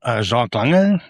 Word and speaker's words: Jacques Lange: So my name is Jacques Lange, the correct pronunciation.